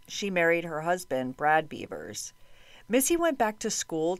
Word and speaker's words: Bevers: I thought because of the spelling, her last name would be pronounced Bevers, but all the press conferences I watched that were held by police and interviews with friends all pronounced it Bevers.